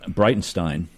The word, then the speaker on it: Breitenstein: I think about what I opened the show up with was this discussion about Ted Breitenstein. Did I pronounce that correctly? Yes.